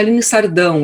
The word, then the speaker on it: Aline Sardão: hoje em dia bom meu nome foi pronunciado de uma maneira americana gostei de ver aqui no meu nome é Aline sardão eu tenho um tio